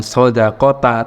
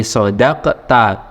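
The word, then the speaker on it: صَدَقْتَ: sodaqo itu mabni fathah, bacanya bukan sodaqota tapi sodaqta, ya, kamu benar.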